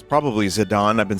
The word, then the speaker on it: Zidane: Alright, we got Torgal, Tonberry, Zidane, or as I found out, his Japanese pronunciation is Jidan. So it's probably Zidane.